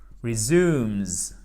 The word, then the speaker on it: resumes: C'est donc resumes. Exactement. C'est un peu bizarre comme prononciation parce que ça fait un Z à la fin.